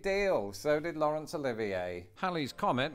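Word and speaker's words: Halley: so did Lawrence Olivier Hal's Comet which is pronounced Hal's Comet and not Haley's Comet had been recorded numerous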